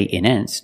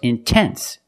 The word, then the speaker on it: intense: stress after the NT if you have a stressed syllable after NT then you have to pronounce the T example intense I put the stress after the NT so I have to pronounce a t I cannot say in ends no it's intense or words like intensive